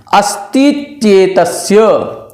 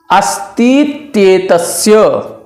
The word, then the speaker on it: अस्तित्येतस्य: इस सूत्र को पढ़ेंगे कैसे, उच्चारण भी एक बार देख लें। अस्तित्येतस्य, अस्तित्येतस्य भावोस्तित्वम, भावोस्तित्वम सदरूपत्वम।